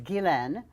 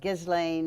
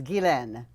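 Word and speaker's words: Ghislaine: my nickname my name my given name is gilan which is a french belgian name spelled g-h-i-s-l-a-i-n-e so if you look at it it looks like gizlane or whatever the french pronunciation is gilen so when i was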